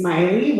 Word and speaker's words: Miley: Good evening, my name is Miley, rhymes with Smiley.